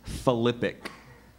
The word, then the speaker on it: philippic: acrimonious invective a tyde are there any other pronunciations just philippic philippic p h i l i p p